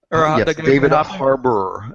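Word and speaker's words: Harbour: I'm not David haror David Harbor and it's like it's like Harbor but it's spelled the British way oh interesting yeah he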